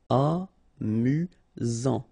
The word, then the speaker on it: amusant: Amusant. Final T not pronounced. You've got only one S here between the vowels, so it's really this Z sound. Amusant.